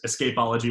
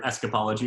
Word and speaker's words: Escapology: you're the the name whether it's ask apology or escapology if you pronounce it the British way or the American name I you know I